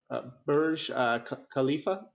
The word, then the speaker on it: Burj Khalifa: And so this Genesis is a collection of 14 unique images showcasing the beauty of the Dubai City skyline, including Burj Khalifa.